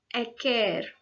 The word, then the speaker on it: acer: It comes from a Latin word called pronounced as acer, which means sour.